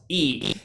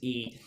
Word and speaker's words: Yi: differently and he said yeah a lot of Americans will sometimes pronounce ye when it's pronounced e they see the Y in English so so it is e and um and hopefully